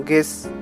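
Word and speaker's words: guess: যেমন গেস, ইউ কিন্তু এখানে বোঝা যাচ্ছে না।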